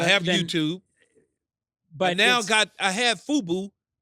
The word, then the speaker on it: Fubo: But I have Fubo. Am I saying it right? Yeah, Fubo? Yeah.